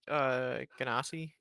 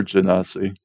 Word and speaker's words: Genasi: I heard it pronounced Ganassi before, I think. All right, Ganassi or Genasi.